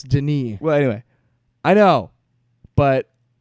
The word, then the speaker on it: Denis: and he's French, so it's Denis.